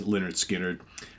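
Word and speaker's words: Lynyrd Skynyrd: today pick number eight Leonard skinnard pronounced Leonard skinnard let us know what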